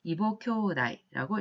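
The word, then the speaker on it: 異母兄弟: 이후교다이라고 하는 용어가 있었습니다만 여기서는 아버지가 같고 어머니가 다른 형제를 이보교다이라고 읽었습니다.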